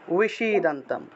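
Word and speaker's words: বিষীদন্তম্: তা উই যে শব্দটা আছে ওই উই এর মতো উচ্চারণ, উইশি দান্তাম, ঠিক আছে?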